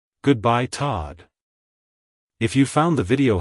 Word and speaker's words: Todd: sound at the end avoid making the oh sound too strong like hello Todd goodbye Todd if you found the